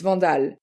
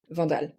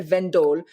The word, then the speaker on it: Vandal: Well, I mean it's if I say it the way I would say it French uh it's vondal vondal but I have learned that in England every time I'm on the phone and I say my name vanal they don't so it's v so I say vendal but I say it